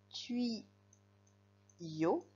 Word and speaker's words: tuyau: Alors, j'entends i dans la deuxième syllabe. Bille. La première c'est bi et la deuxième c'est i. Pareil pour qui y. Tui yo.